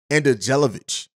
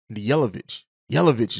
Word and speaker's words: Andjelkovic: Marko Andrejlovic. Yelovich is probably how you pronounce that.